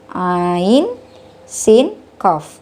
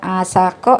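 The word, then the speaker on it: عسق: Ain, sin, qaf. Dibacanya bukan asako ya, melainkan dieja sesuai nama asli hurufnya. Ain, sin, dan qaf.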